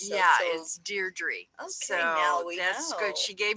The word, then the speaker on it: Deirdre: better from now on I always said it D troubles yeah is Deirdre oh so good she gave me the pronunciation so yeah yeah I appreciate that because